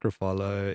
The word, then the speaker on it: Ruffalo: And there's a funny in Poor Things this last year in Poor Things is that scene where Mark Ruffalo is screaming out Bella, and that's straight out of Streetcar.